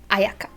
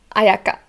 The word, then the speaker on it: Ayaka: third syllable it's kamisato ayaka now ayaka or i think i've heard ayaki ayaka and her last name again